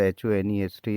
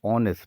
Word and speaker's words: honest: Here the pronunciation of the word of this word HONEST is honest, not honest.